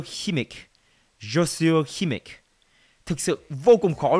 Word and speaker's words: Kimmich: Đây là cách đọc bên Anh nhưng mà ấy, Joshua Kimmich đã từng lên phát biểu ấy và chia sẻ cách đọc tên của mình ấy, và nếu như mọi người không biết ấy thì hình như bạn ấy đọc là Joshua Kimmich.